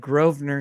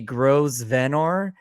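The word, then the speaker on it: Grosvenor: always no that's right I'm always confused it spell it looks like it's gonna be gross venor gross venor is the way it looks SP but like I'm always like how do you pronounce that so I was really grateful that she just pronounced it for us groer yeah thank you so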